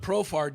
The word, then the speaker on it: Profar: But Profar does rhyme with superstar.